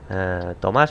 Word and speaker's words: Tomás: Por ejemplo, ahora sé que Tomás, en este caso, tiene el acento en la A, entonces pues...